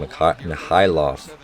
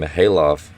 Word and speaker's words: Mikhailov: Chinanyezi, another one with a short pass, and Mikhailov. I got to remember that the K is silent. Mikhailov, I think that's how you pronounce it.